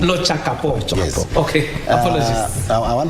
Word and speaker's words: Lochakapong: Yeah, maybe if you pronounce my name correctly, it's LOCHAKAPONG. LOCHAKAPONG.